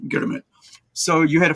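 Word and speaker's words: girmit: fiveyear agreement to um which the Indians called gurit because you know you can't really pronounce agreement in Indian in those days right so it's the gurit so g i r m i t gurit so you had a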